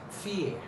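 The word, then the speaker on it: fier: another world no if I are how to pronounce this word fear fear fear see I'm not speaking clearly or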